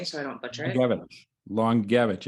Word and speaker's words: Langiewicz: Langiewicz. Langiewicz. It's spelled like Langiewicz, but it's pronounced Langiewicz.